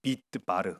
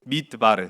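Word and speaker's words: מדבר: 누구냐 여기 내게로 오라 미드바르 르이 발음이 좀 중요하고 한글로는 미드바르 제가 했는데 이게 이게 발음이 미드바르 그렇게 해야 돼요 미드바르 바 아 좋네요 예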